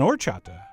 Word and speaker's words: horchata: and easy take on or chapter the H is silent but your guests will